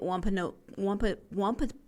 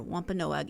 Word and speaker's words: Wampanoag: That it was in 1621 when the Pilgrims and the Wampanoag, I was trying to put too many syllables in there, Wampanoag Indians held their feast in Plymouth County.